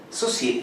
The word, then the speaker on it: Saussure: Saussure, Ferdinand de Saussure. De Saussure. Saussure. Bueno, Saussure, si usted quiere. Claro. se escribe Saussure.